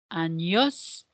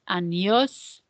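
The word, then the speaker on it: años: quantos quantos anos anos do you remember what that Accent on top of the N does to that n Sound in Spanish it changes the pronunciation from a n to a so anos good so if we didn't have that accent it would be anos so quantos anos practice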